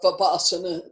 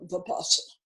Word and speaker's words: Vipassana: We're here today to learn about Vipassana, to deepen Vipassana practice.